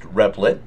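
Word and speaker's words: Replit: and you can get there by going to.it pronounced repet we are going to choose here Java and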